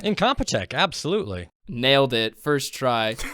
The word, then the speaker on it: Incompetech: Kevin Macleod is a man who is the owner-creator of, I might not be pronouncing this right, Incompetech? Incompetech, absolutely.